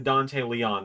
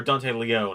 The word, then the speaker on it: Dante Leone: He is the one that made the Dante Leon that showed up or Dante Leone, I learned it's pronounced.